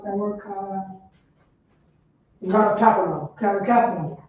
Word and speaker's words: Capernaum: How do you pronounce that word? Capernaum.